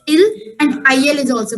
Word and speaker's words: ils: s is added and whenever we are making any french word plural by adding the letter s the pronunciation remains same that's why ils is also pronounced as ill and il is also